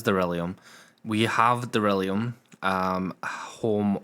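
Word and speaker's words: Darillium: and then we have delirium do you know I said that right there and I felt like I said it wrong it is derium we have derium um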